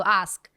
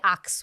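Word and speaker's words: ask: হয়, সেটা হচ্ছে যে ধরেন আস্ক শব্দটা এসকে দিয়ে সাউন্ড দিয়ে শেষ হয়, রাইট? সো আস্ক, এটা আপনি দেখবেন অনেকজনকে আক্স বলতে, এই সাউন্ডটা সাউন্ড হয়ে যায়, সো আস্ক বিকামস আক্স।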